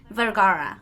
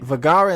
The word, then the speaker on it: Vergara: a town in spain vergara like sofia vergara okay vergara and zulady is easy